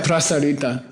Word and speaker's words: prasarita: Yeah, prasarita, spread out.